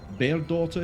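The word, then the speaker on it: Bairdotr: down to potentially give him his voice back bear daughter here that is how the name is pronounced it is a p it is bear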